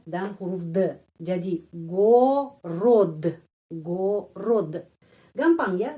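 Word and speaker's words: город: r ya re o dan huruf the jadi Go rod.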